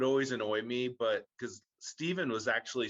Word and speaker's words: Stephen: is actually spelt like stefan curry but it's pronounced steven which is a normal way to place to